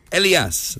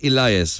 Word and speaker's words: Elias: It's Elias, not Elias, right?